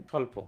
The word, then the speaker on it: স্বল্প: যেমন আমরা বই বলি, বই বলতে ব এবং রসে এই বটা ব আমরা বলতেছি, কিন্তু আমরা যখন স্বল্প বলতেছি তখন কি এই বটা উচ্চারণ করতেছি না।